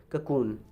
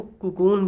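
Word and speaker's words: cocoon: Covering को बोलते हैं ककून। ठीक है, इसको कुकून भी नहीं बोलते, ककून बोलते हैं।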